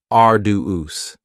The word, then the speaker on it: arduous: Next is arduous, and arduous has 3 syllables, and the stress is on the first syllable, arduous. Now, you don't hear that D sound that much. It's not very strong. It almost sounds a little like a J.